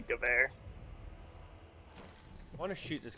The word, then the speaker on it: Gewehr: Yeah, the English pronunciation of it would just be Gewehr, but oh, I the found German it in World at War, and I was just like Gerwer rifle. Yeah, the German pronunciation would be Gewehr.